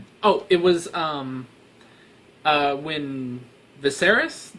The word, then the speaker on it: Viserys: it was um when Viserys that's I'm pretty sure how you pronounce the brother's name yeah I'm pretty sure it's Viserys the Daenerys is brother when he was